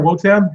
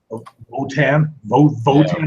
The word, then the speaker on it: Wotan: Votan. It sounds like Wotan is like we said it on the first episode. It's like the Germanic way to pronounce it.